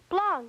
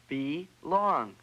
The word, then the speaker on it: belong: the word is environment blong that's blong no there's an e in there be long belong lyph what about the